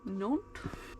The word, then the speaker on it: Nantes: Nantes.